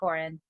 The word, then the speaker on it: Corrin: the really practical tips you've given us again coren cobin am i saying your name right coren the first name yes which is surprisingly because